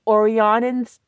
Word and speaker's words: Orionids: we're going to have the peak of the Orionids, yeah, that's how it's pronounced, meteor shower, which produces up to 20 meteors per hour.